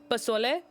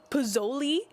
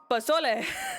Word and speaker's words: pozole: Yeah, but one thing, they went to a Mexican restaurant, and they ordered pozole, which is how you pronounce it, but they pronounced it pozzoli, and I'm like, it's pozole, not pozzoli.